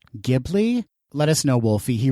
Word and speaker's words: Ghibli: of the ghibli films is it ghibli or jeebily i never knew how to pronounce that i think it's actually ghibli ghibli let us know wolfie